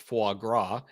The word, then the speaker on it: foie gras: be honest and Rachel points out that it's pronounced foie gras uh which I'm hoping I pronounced the way